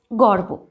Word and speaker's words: গর্ব: গর্ব, গর্ব, গ বয় রেফ আছে, গর্ব, গর্ব বানান। এবার গর্বের উচ্চারণটা কেমন হবে? গর্ব, মানে রেফের আগে এই যে বয়ের মাথায় রেফ বসেছে তাই বয়ের আগে একটা রয়ের উচ্চারণ আসছে, গর্ব।